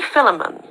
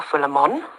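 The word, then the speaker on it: Philomène: Marie Philemon, or Philemon, depends how you want to pronounce it.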